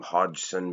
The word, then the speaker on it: Hodgson: Well, I do know how to pronounce this name, Hodgson, because this man, Jeff, is my cousin.